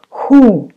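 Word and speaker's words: Х: we we have letter which looks like English X but we pronounce like like who who so X is Russian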